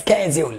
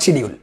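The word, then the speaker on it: schedule: penal করে অধীনে বিচার, that the second স্কেজুল নট শিডিউল, but some one Cesc like this the শিডিউল, no this is not right pronunciation, this pronunciation some one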